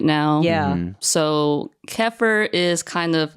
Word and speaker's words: kefir: And I stumbled upon making homemade kefir. Kefir? Kefir or kefir? I pronounce it kefir.